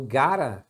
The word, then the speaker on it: gotta: Então, gotta, na verdade, é só a pronúncia do got junto com o to.